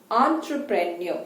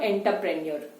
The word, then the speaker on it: entrepreneur: and EU are understood the pronunciation is entrepreneur it is not enterpreneur right so be very